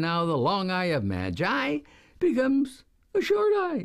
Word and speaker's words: Magi: the right of Mag the letter i changes the sound of the hard G to a soft G or just sound as in The Gift of the Magi which we hear about